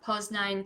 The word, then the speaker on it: Poznań: We're going to go to Wrocław, Poznań, Torun. Sorry, those are very Polish sounding words, but I'm Polish, so that's how I'm going to pronounce them.